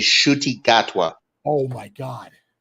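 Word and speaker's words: Ncuti Gatwa: William, the way you pronounce this guy's name is Shuti Gatwa.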